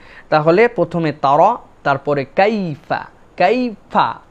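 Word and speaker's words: كيف: 2 নম্বরে কাইফা, এখানে মনে রাখতে হবে কাইফা, এই যে ইয়াটা, এটাকে বলা হয় লিন। আরবিতে একটা কায়দা আছে লিন, এটা হচ্ছে নরম করে উচ্চারণ হবে, ইয়ার উপরে সাকিন, আগে যদি জবর হয় তাহলে আমাদের জন্য এই ইয়াটা কাইফা এরকম যেন না হয়, কাইফা, কাইফা, মানে এটা একটা নরম হবে, লিন।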